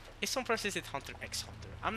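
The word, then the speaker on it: Hunter × Hunter: know what i'm saying even if the author does pronounce it hunter hunter himself it's fine you know what i'm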